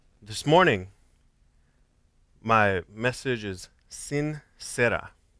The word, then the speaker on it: sin cera: morning my message is sin sera sorry jerry pronounced it jeremiah pronounced it wrong sincere no this is the spanish word sincere not sincere but the words sincera without wax i have an example